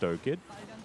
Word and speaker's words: Oid: that oid can do or five kid or skid depending on what you feel like calling him but it is pronounced oid death grasp doesn't find